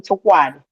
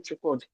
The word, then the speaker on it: Chukwudi: In the school, they call him Chukwad. They wrote it there. I have tried several times to change that, to tell them to pronounce it. So they prefer to call the second name. I said, no, you have to call him Chukwudi. That's his name.